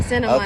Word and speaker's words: Santa Monica: And today we here in Santa Monica, California. Did I say it right? Yeah, Santa Monica. Okay, Santa Monica.